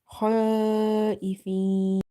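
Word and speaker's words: خائفين: Khaifin. Hamza kasra e, fa ya kasra fi, kha e, fi, and noon sakin because we are pausing.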